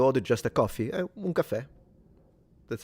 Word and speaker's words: caffè: Yeah, un caf- Well, so, in Italian, it's with two F. Un caffè. In Sicilian, we do say it with one F.